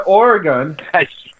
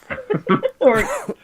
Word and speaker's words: Oregon: You can't even say it right. It's Oregon. Oregon. I'm in the mood to say Oregon. I don't know why. Is it Oregon or Oregon? Oregon. It's gun. Bang bang.